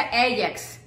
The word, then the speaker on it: Ajax: Para los baños, este es el, en México lo conocemos como Ajax, y de hecho aquí se pronuncia Ajax o el Comet.